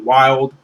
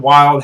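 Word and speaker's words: Wyald: tell you would say his name it's WY Ald wild battling against guts and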